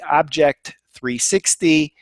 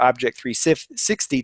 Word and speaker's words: OBJEK 360: And then rounding up the nominees for the MSP of the Year, Alexander Dabaka, his company Object 360. I'm giving you the American pronunciation, but it's actually spelled OBJEK 360.